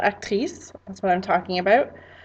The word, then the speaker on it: actrice: I might say that someone is an actor or an actress, and that is pronounced acteur, actrice. So if you hear me say acteur, actrice, that's what I'm talking about.